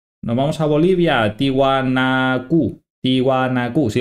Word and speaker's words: Tiwanaku: I'm in Bolivia we'll go to Bolivia tiwanaku tiwanaku yes I said it right Today Anaya called